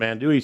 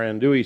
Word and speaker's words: andouille: to put in our andouille sausage. Now, what is andouille sausage? It's a New Orleans style sausage, and it's actually spelled A-N-D-O-U-I-L-L-E, but a lot of people pronounce it andouille.